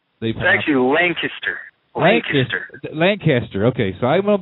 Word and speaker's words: Lancaster: How do you pronounce Lancaster? I've been told it's actually Lancaster.